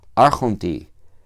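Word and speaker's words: ἄρχοντι: En el caso del logo, la iota está, se escribe, pero no se pronuncia, pero aquí sí, arjonti, es como se pronuncia la forma del dativo singular.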